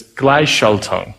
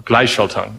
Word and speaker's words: Gleichschaltung: And it's, I'm really bad at pronouncing it, but it's Gleichschaltung, or Gleichschaltung.